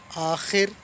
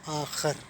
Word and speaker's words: آخر: میں حاضر ہوا ہوں۔ یہ الفاظ لکھنے میں ایک جیسے ہیں، اور بولنے میں اور تلفظ کے اعتبار سے ان کا میننگز جو ہے نا وہ بدل جاتا ہے۔ ٹھیک ہے، وہ لفظ ہے، ایک ہے آخر اور ایک ہے آخر۔